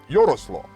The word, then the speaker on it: Jaroslav: a couple of you, Jaroslav, now that's pretty cool. Is it Yaroslav? Yaroslav. That sounds like a good name, but they're Russian when they say it like that.